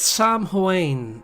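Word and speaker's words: Samhain: I think it's Sam Huain or something. That is how it's pronounced. Like I have to look it up, but I think it's something like that. It's a Gaelic.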